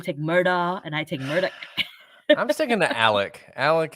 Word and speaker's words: Murdaugh: or like you take Murdaugh and I take Murdoch. I'm sticking to Alec. Alec is my But it's and I spelled like Alex.